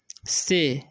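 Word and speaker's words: say: तो माइल पढ़ेंगे, टू से, ठीक है, इसे पढ़ते हैं हम से। ए वाई जब भी किसी वर्ड के लास्ट में रहे तो उसका उच्चारण ए हो जाता है, और देर तक पढ़ना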